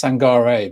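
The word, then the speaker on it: Sangaré: go back as well I'm pretty sure it's sangarei because like someone's mentioned in the comments and like I thought as well there is an accent on the e at the end I think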